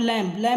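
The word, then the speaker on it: lamb: यहाँ पे देख सकते हो थम, यहाँ पर भी बी साइलेंट है। और यहाँ पर लैम माने होता है भेड़ का बच्चा, तो यहाँ पर भी बी साइलेंट है।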